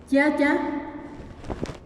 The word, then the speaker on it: yaya: Yaya, los que hablan español, los mestizos, incluso en las películas, lo convirtieron en tata, porque no lo pueden